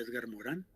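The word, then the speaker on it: Edgar Morin: Uno esgar Morín, que se pronuncia Edgar Morán, y que escribió el libro Los siete saberes necesarios para la educación del futuro.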